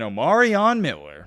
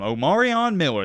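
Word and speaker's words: Omarion Miller: remember the name folks I'm going to say it one more time omaran Miller that is how you say it why am I so confident in saying that because in a postgame interview shadir Sanders actually corrected a guy who was asking Omar on a question because he said his name wrong I believe the reporter said something like omaran or something and shadur was like no no no his name's omaran so let's get that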